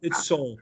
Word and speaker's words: Seoul: It's Seoul. Seoul. Seoul.